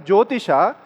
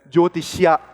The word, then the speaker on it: Jyotisha: Therefore, this Shastra is termed as Jyotisha. You can call it as Jyotisha or Jyotisha also. Both are fine. But don't, in Karnataka, many people call it as Jyotishya. This Yakara doesn't come.